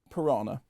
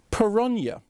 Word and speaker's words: piranha: about them the word piranha is correctly pronounced peronia with the accent on the second syllable and not the the